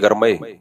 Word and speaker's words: گرمئی: پشتو میں کہتے ہیں ڈیر گرمئی دے، گرمئی دے بولتے ہیں، ڈیرا گرمئی دے، گرمی نہیں گرمئے، بھنڈی کو بھنڈائے، گرمی.